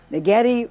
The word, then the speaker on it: Naghedi: Naghedi rhymes with spaghetti.